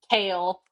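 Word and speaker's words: Chaol: Dorian for sure Ailen cow. Is it Cole or Cow? I don't know. It's It's Kale.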